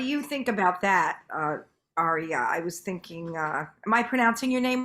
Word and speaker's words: Aria: so what do you think about that uh Arya I was thinking uh am I pronouncing your name right I want to make sure I pronounce yeah Arya AR um what what are your thoughts on